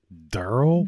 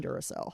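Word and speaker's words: Durrell: her husband durl what durl d r r e l l l durl that's spilled like a sound every time I look at it I think Duracell and so I have to fight to not call him durel oh my gosh it's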